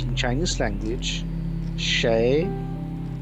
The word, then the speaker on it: 谁: How to pronounce in Chinese language Sheí, Sheí, Ni, Shi, Sheí.